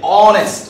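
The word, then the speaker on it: honest: যে সমস্ত শব্দগুলো কনসোনেন্ট এইচ দিয়ে শুরু হয় কিন্তু এইচের উচ্চারণ হয় না, অর্থাৎ এইচটা সাইলেন্ট থাকে, এইচ যেখানে অনুচ্চারিত এইচ যেখানে সাইলেন্ট থাকবে সেখানে তার পূর্বে এ না বসে এন বসবে। দেখো মনোযোগ দিয়ে, অনেস্ট, এটার উচ্চারণকে আমরা হনেস্ট বলি, এটা হচ্ছে কি বলি?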